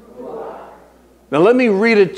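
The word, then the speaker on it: רוח: Holy Spirit listen to me is the word ruach it's spelled r u w a c h say ruach ruach now let me read it to you as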